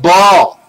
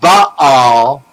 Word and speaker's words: Baal: They are the columns of Baal, B-A-A-L. The two A's represent the two columns, because one A is silent.